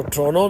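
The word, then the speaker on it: Toronto: है वह टोंटो है कुछ लोग जो है इसको ट्रोनो भी कहते हैं टी को व साइलेंट कर देते हैं ट्रोनो इज द कैपिटल ऑफ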